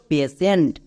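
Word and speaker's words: patient: পেশেন্ট।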